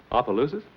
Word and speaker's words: Opelousas: Opelousas?